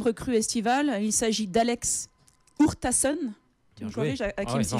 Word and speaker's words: Urtasun: Il s'agit d'Alex Hurtasun. Tu me corriges, Hakim, si je prononce mal.